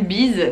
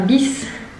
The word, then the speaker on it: bis: Et enfin, un bis, alors on prononce pas une bise, Marie, c'est vraiment un bis.